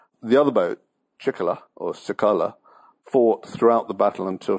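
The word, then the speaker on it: Cicala: One was known as HMS Sikala, although I think they pronounce it Chikala. But anyway, I always pronounce it Sikala, which may be wrong.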